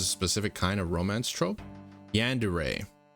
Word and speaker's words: yandere: Yandere. It's like obsessed. Yandere. Yandere. How do you spell that? It's pronounced Yandere.